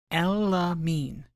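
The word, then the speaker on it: Elimine: Her name is pronounced Elamine.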